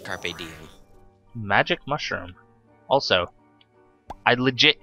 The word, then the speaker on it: carpe diem: It's pronounced carpe diem.